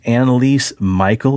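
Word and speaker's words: Anneliese Michel: germany right yep about anneliese michael is that how i pronounce the name very good okay because before i had michelle what's her name and then yeah obviously not the right name perfect and your associate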